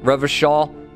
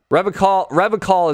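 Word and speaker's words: Revachol: Revishaw is pronounced Oranya. Revicall is Revishaw. Oh, it's Revishaw. Okay, gotcha. So not Revicall, Revishaw.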